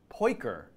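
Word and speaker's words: Peucker: but it's something alright it's pronounced poi rhymes with TOI ker like the start of Kermit poker oh that's great Ramar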